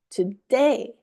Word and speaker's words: today: These words are stressed on the second syllable. So the sound is Hello, obey, before, today.